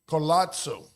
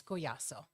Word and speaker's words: Collazo: first read it I wanted to call it colazo but no colazo I think I was trying